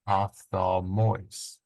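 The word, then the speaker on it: ὀφθαλμοῖς: Here you have a circumflex at the last syllable, ophthalmois, ophthalmois.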